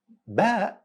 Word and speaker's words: Ba: Ba is pronounced exactly in the same way you pronounce letter B in English. So ba sound as letter B in the word below.